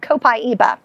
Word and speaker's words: copaiba: So this is an oil called copaiba. Copaiba, this is of course... Copaiba. Copaiba. How do you spell that?